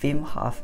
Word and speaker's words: Wim Hof: I think it's actually pronounced Wim Hof in his native language of Dutch.